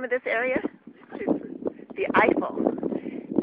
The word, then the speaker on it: Eifel: The Eifel. Not like Eiffel Tower in Paris, but the same pronunciation.